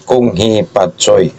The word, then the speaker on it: Kung Hei Fat Choi: Ang tamang bigkas ay Kung Hee Pat Soy.